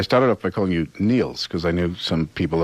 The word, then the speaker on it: Nils: Well, it's like the word nil with an S. It's Nils. Yeah, Nils.